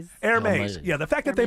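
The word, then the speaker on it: Hermès: I'm a Hermes. Hermes. The fact that the Hermes the Herpes bag is uh I mean I mean you look at how you say it. Airmes.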